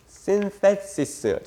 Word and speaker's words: synthesis: 이거 TH 발음 진짜 중요하다. synthesis.